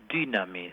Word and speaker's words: dynamis: Dios es dynamis, así se pronuncia en griego.